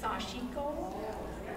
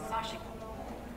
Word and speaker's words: Sashiko: And Sashiko could be pronounced Sashiko, but I was told by a Japanese person it was Sashiko. So that's how I pronounce it.